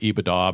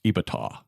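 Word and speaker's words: EBITDA: blah blah blah and and taxes iata they pronounce it ibaa but it should be almost pronounced ibata anyway and it's this magical mystical term that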